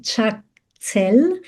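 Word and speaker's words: chaktsal: The Tibetan term is chakel. So two syllables.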